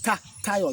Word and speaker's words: Tayo: Ah, yes, it's Tayo, not Teo. It's Tayo. Yes.